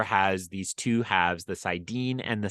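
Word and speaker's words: saidin: If I have this right, it is the Sidin, and the Uh, female side is Sidar. Sidar is correct. Just Okay. pronunciation, Sidine. Sidine.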